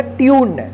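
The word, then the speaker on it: tune: यू ए ए ई इसको twin नहीं पढ़ा क्या पढ़ा जाएगा ट्यून देखिए यहां पे यू का यू उच्चारण हुआ है ना टी यू एन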